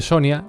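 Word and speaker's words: Sonja: Uno parece ser el de Sonia, escrito con J, pero con una pronunciación parecida a la de Sonia en español.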